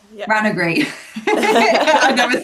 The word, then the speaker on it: Ranagri: Because you do lots of stuff with, you're the harpist now for Ragnari. Am I saying that right? Ragnari? Ranagray? Yeah. Ranagri.